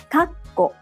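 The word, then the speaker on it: かっこ: Kakko, parenthesis. Kakko, kakko. Again, the pause need to take 1 clap. Kakko. But Japanese learners often omit the pause.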